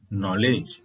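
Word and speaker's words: knowledge: का के को देखिए नॉलेज नॉलेज का होता है ज्ञान नॉलेज में स्पेलिंग में के का उपयोग हुआ है परंतु नॉलेज के उच्चारण में के साइलेंट है नॉक नॉक का होता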